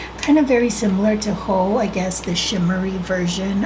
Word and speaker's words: Heaux: The first shade is going to be, I believe it's pronounced Heaux, but it's spelled H-E-A-U-X.